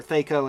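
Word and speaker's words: THAC0: their two hit their Theo as it's called in this game or tho depending on your uh pronunciation preference verle of the dwarves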